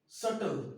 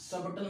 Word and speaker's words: subtle: Okay, next सबटल नहीं, ये सटल है। क्या इसे पढ़ेंगे? SUBTLE सबटल नहीं, सटल।